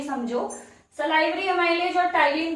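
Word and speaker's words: ptyalin: दूसरा कौन सा, टाइलिन होगा, यहाँ पे पी साइलेंट रहता है, तो इसको हम लोग क्या पढ़ते हैं, टाइलिन पढ़ेंगे।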